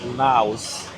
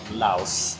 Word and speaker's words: Laos: don't, the country Laos, you don't say Lao because that's for people. I know for the past videos we've been saying Lao, Yeah. but it's actually Laos. You Yeah. pronounce the S because that describes the country. Lao without the S describes the people and the language.